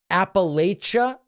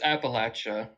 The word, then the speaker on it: Appalachia: Lily from Appalachia. Yes. Hello. Hello, it's Appalachia. Appalachia. Welcome. Yeah, there's a saying here that if you pronounce it Appalachia, I'm gonna throw an Appalachia.